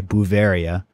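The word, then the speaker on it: Beauveria: i have to admit i typed in bavaria like uh the place in germany that's not how it's spelled it's b e a u v e r i a buvaria basiana b-a-s-s-i-a-n-a and you'll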